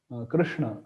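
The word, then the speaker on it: कृष्ण: bit more you know effort from our side Krishna Krishna and this is quite easy that's why we opt for it generally uh so but actual pronunciation should be Krishna Krishna so yeah like that we can try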